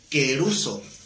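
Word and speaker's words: kerusso: La palabra predique es la palabra queruso, con K de kilo y con doble S, queruso con acento en la U.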